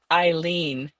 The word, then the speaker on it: Ilene: Yes, you say my name, Eileene.